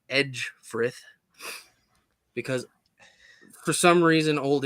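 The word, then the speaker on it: Ecgfrith: That, while it may look like Egfrith, is actually pronounced Edgefrith because for some reason Old English is spelled awful, and I hate it.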